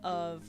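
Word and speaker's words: を: It's pronounced as O. Like it's just like the O basically.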